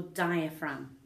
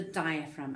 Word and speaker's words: diaphragm: course we've got the diaphragm and when we spell that word don't forget the G it's spelled okay don't forget that G so the diaphragm is